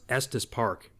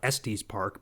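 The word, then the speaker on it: Estes Park: that's pretty cool because it actually knew how to pronounce EST Park you know I even hear people in real life typically who are from out of town they call it es Park but the AI actually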